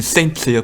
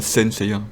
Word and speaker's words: Saint Seiya: C'est Saint Seiya, pas Sen Seiya.